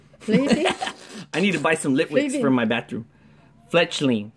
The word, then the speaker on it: Litwick: Light switch? Litwick.